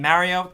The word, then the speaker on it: Mario: Also, I know I'm saying Mario. That's how I pronounce it. I'm from New York, the tri-state area. That's how a lot of people here with this accent pronounce it.